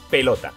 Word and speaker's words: pelota: Ahora hacemos el truco del lobo. Pelota. La fuerza de voz la lleva en lo, por lo tanto, no es una palabra aguda.